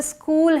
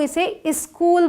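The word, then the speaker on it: school: एच ओ ओ एल इसे हम स्कूल बोलते हैं बट बहुत सारे लोग इसे स्कूल बोलते हैं वो बोलते वक्त हिंदी वाली आदत होती है ना तो वो बोल देते हैं स्कूल इस स्कूल बोल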